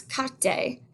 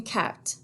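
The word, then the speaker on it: carte: cat people sometimes pronounce kate and again that's not correct that's a silent e at the end so we say in cat in cat that's also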